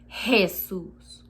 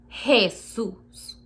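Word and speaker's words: Jesús: and the you and you're supposed to say jesus jesus say it god in spanish uh is written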